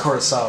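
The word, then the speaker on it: Curaçao: Yeah, that's just pronounced Curacao.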